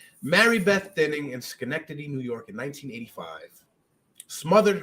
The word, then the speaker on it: Schenectady: already but it was i probably would have butchered that snow nectity connecticut adjacent that i i've heard how it's supposed to be said by y'all schenectady i've heard this connectivity